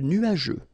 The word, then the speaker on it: nuageux: Remember, final X here, not pronounced.